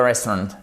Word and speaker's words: restaurant: We are waiting in front of the restaurant. Devant quoi? Ben, pas n'importe quoi. Devant le restaurant. Et c'est restaurant. C'est pas restaurant. Faites bien attention, vous avez un accent tonique juste ici. Restaurant, ok?